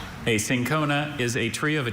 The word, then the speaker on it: cinchona: A sincona is a tree of a genus native to